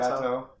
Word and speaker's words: Gâteau: How do you pronounce Gateau? It's Gateau. Are you lying to me? No. Why? How many other ways could you pronounce it, Jeff? It's French.